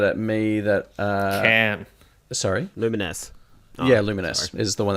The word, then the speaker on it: Luminous: I've never played a Luminous game. I only learnt that's how you say it. Like about 2 days ago, I thought it was like Lumines.